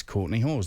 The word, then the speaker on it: Courtney Hawes: It is, I've asked the fella himself, it is Courtney Hawes. That's how you pronounce the name.